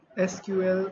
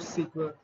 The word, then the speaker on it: SQL: आज का आपका लेक्चर डेटाबेस मैनेजमेंट सिस्टम्स पे हम पढ़ने वाले हैं इंट्रोडक्शन टू एसक्यूएल और सीक्वल। हम दोनों तरीके से इसको प्रोनाउंस करते हैं।